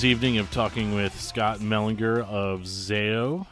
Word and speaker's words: Mellinger: the pleasure this evening of talking with Scott Mellinger of Zao how are you doing tonight I am awesome and thank you for pronouncing my name right but uh speaking of